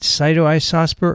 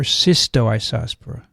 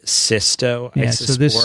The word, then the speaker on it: Cystoisospora: it cyto isospore or cystoisospora the way you pronounce it cysto or cyto because some people are writing saito and some are actually there is an s in there so it's actually systo this uh but i